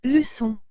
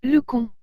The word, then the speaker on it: leçon: tableau et le mot leçon si la cedh il n'y était pas nous dirions le conte voyez que le ces se prononcent réellement comme s'il serait temps s voici donc le deuxième